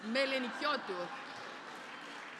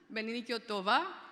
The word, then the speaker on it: Melenikiotou: You pronounce my name right, so it's Melenikiotou. I had the Japanese version, Melenikiotou. I had the Russian version, Melenikiotova, so it is Melenikiotou.